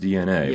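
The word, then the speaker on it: DeNA: oh it's uh it's it's pronounced DNA but it's written yeah D capital D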